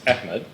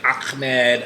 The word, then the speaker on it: Ahmed: I'm going to Yeah. pronounce my name like how a Pakistani would say it. I'm not Arab, Yeah. so I don't do the Arabic pronunciation. But then I'm getting Ahmed.